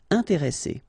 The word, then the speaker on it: intéressé: consonants, after this the sound that you should pronounce for this is really open, so it's E. Intéressé. Intéressé.